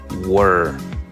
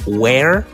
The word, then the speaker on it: were: Were. No es where, porque eso suena más como dónde, sino were, con una E un poco más oscura. Recuerda que se escribe W-E-R-E, were.